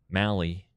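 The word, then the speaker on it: Mahle: So now the media guy says, "Mally rhymes with rally."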